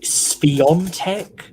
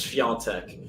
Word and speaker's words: Świątek: The one I've heard is like Spiontek, but again, that's somebody else's. Yeah, I can spell it. I can spell it, no problem. I've just got the name in front of me. I can pronounce some Polish, and I believe that's Świątek.